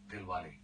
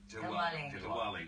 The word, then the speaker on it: Dilwale: The new film, and I'll get you to pronounce it correctly. Dilwale. Diwali. Right, Diwali. Okay. Well, we know Diwali is a festival. What about the film? What's the thing? Okay, the festival is Diwali.